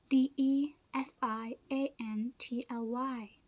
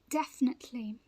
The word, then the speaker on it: definitely: pronounced the same way this word is pronounced as definitely definitely definitely but most people say as defiantly but this word meaning